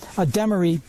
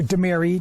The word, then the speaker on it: Demaree: be known as a Demaree, or Demaree, depending on how you want to pronounce it, manipulation.